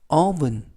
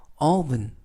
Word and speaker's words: oven: 이번 표현은 oven 이라고 발음하시면 되겠고요. 이때 주의하실 것은 알파벳 O가 라고 발음이 납니다. 그래서 오븐이 아니라 oven 이라고 발음하시면 더 좋겠고요.